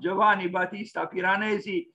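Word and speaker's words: Giovanni Battista Piranesi: greatest giovanni batista piranesi italian pronunciation is this one giovanni batista piranesi also known as simply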